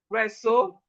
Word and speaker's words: wrestle: So we have right, wrist, wrong, wreck, wrap, wrestle, ran, wrinkle, wrongful, wretch, wretch, right, wrist, wrist, wrong, wreck, wrap, wrestle, ran, wrinkle, wrongful, wretched.